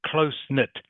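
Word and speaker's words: close-knit: Clon family good okay closeness remember you have to pronounce the S close knit can you say that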